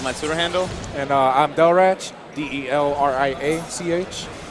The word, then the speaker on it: Delriach: And I'm Delrach, DELRIACH. It's Hey, pronounced.